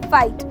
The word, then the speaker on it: fight: ऐसे ही अगर मैं आपको बोलती हूँ फाइट, ठीक है, तो यहाँ पे FIGHT है, GH हमारा बीच में आया तो वो साइलेंट हो जाएगा और हम पढ़ेंगे उसे फाइट।